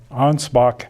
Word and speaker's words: Ansbach: I was stationed, and Ansbach. They misspell that, by the way, but it's A-N-S B-A-C-H, not a P, as you'll see written in some English deals today.